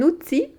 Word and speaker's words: outil: Un outil, des outils. Outil, outil, mais ça s'écrit T-I-L à la fin, mais on ne prononce pas le L.